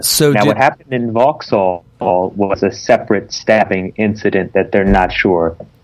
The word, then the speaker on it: Vauxhall: Hashtag London Bridge, Borough, hashtag Borough, and then hashtag, you said Vox? How do you pronounce that? Vauxhall.